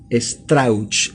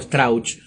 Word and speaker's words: Strauch: de los 16 sobrevivientes el señor Eduardo strauch así se pronuncia Eduardo stra correcto uruguayo que no solamente